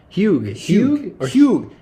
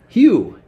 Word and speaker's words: Hugh: British people named hug huge I think the g is silent phew Hugh the cue Hugh Grant